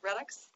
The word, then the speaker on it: Redux: And I'm going to talk about the Blocks World Redux. Mark Steedman assures me that that's the correct way to pronounce this.